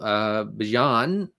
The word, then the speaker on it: Bijan: Start 2, Bijan. And that's how they're pronouncing it, folks.